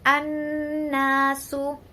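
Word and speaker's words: النَّاسُ: Nah, kalau di ayat tadi contohnya an-nasu. Alif lam bertemu dengan nun. An-nasu. Dibacanya ada tasydidnya.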